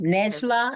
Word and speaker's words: Necla: Necla Vildirim Unal. I may not be Well, pronouncing. you got it pretty close. Nejla and her last Unal.